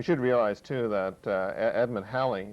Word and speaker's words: Halley: that is almost certainly wrong and that is haley that is absolutely for certain dead wrong another way of pronouncing it and this is a possibility is holly it is a possibility that he pronounced his